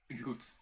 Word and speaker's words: goed: Goed. So it's I find this kind of between like a hard G and a J.